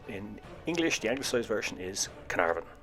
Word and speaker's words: Caernarvon: English language version is Canaveral as in Lord Carnarvon and Caernarfon Castle now let's have looked